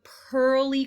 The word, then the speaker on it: pearly: going to be pearly the pearly color er pearly spelled e-a-r the next word i